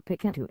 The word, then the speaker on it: Picanto: word is it once the can't part to be said as you say canteen and definitely not in the way you'd say can't it's a positive perception